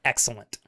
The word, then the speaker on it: Xilent: It's technically pronounced excellent. You're supposed to say the X, but there's no way you guys would know that.